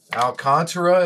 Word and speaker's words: Alcantara: Alcantara, is it, money man? That's how you pronounce it.